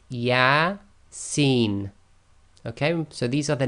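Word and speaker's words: يس: thing to know is these abbreviated letters are pronounced as the names of the letters not as sounds so the first example we've got here and it's from the earth manuscript is yeah scene okay so these are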